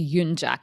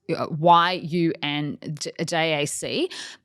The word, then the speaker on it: Yunjac: So it's spelt like it should be Yunjak. It's Yunjac.